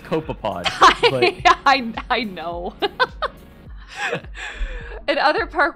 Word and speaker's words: copepod: oh yeah rare occasions abyssal cope copepod it's pronounced copepod i know and other park wildlife will venture